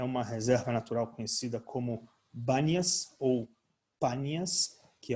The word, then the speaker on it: Banias: florestal, a reserva florestal Banias, a letra P e Bet do árabe, que não pronuncia o P, então virou traduzido no comum Banias, uma reserva florestal com